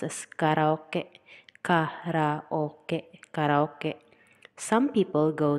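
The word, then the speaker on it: カラオケ: In Japanese, it is pronounced as karaoke, karaoke, karaoke.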